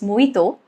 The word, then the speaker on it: mojito: Letter J is not generally silent, but I can think of a drink's name, which is mojito. So mojito has J silent, but again, it's a proper noun.